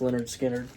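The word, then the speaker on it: Lynyrd Skynyrd: my favorite bands Leonard skinnard uh this is pronounced Leonard skinnard and then from their concert I picked this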